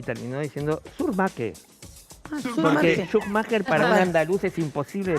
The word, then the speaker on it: Szuchmacher: en españa por ejemplo éste ha sido correctamente pronunciado schumacher así es ahora el corredor y de otra